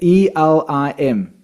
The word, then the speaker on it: Elim: How do you spell that tone? Ilim. E L I M.